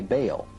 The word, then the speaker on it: Baal: Bell, spelled B-E-L, is usually pronounced Bell, but both Strong in his Hebrew dictionary and Fariabin in his prefer to say Baal. The word is probably the contracted form of some other Hebrew word, commonly pronounced Baal and spelled B-A-A-L, and he was worshipped